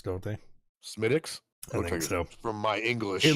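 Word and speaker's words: Smithwick's: heard of it what's Smithwick I think they pronounce it smic don't they smiix I from my English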